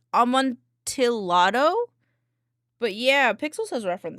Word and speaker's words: Amontillado: Pronunciation. Yeah, Amontillado.